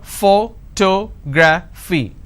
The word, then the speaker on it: photography: do I have here photography four syllables but in this case I stress on the second syllable that is what word